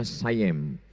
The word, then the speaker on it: Siam: Tulisannya Siam. Orang Barat membacanya sayem.